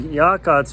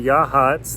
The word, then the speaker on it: Yachats: at the visitor center i had been pronouncing yaakot's wrong it's actually yahats the sea is silent but if you stop